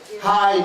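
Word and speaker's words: հայ: Hai means Armenian. So don't forget that. H-Y-E, right? H. Now, phonetically, H-I-G-H is the correct pronunciation.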